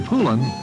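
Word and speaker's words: Poulan: poland ed whole land and for over 30 years they've been mispronouncing our name hope so we'd like to remind you that when you want a tough dependable chainsaw there's only one name you need to remember get your pullin a poland chainsaw from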